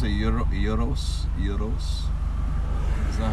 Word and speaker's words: gyros: Don't they pronounce it gyros? Gyros? Is that how they say it? In Greece, it's gyros. Gyros? Where I was. I thought the G was silent.